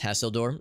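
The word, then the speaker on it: Hasildor: little bit bummed that this guy's name is pronounced hasseldorf I was hoping it would be a seal door so I could be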